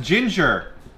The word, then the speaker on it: Jinger: again by the way it's pronounced Ginger lady Ginger I should have read